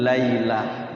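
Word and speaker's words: لَيْلَة: Fathatain tamarbutoh itu kalau wakaf semua tantin tuntin sukunnya ketika wakaf dibaca huruf H, hamzah sukun. Mardudatun, mardudah ya. Apalagi qaryatun, qaryah gitu. Lailatun, lailah gitu.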